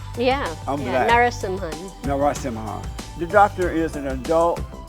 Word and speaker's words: Narasimhan: Narasimhan. Narasimhan. Did I say it right? Yeah. I'm yeah. black. Narasimhan.